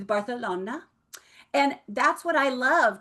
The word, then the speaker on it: Barcelona: I'm flying to Barcelona. I've always wanted to go there, and I've always wanted to say it like that too, because apparently that's how you're supposed to say it. See, Amber, see, a lot of you guys just said it to yourself, right? It's Barcelona.